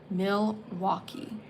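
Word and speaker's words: Milwaukie: money Milwaukee it is it's a dumb spelling do you want to see how it's spelled m i l w a u k i e Milwaukee it's probably probably originates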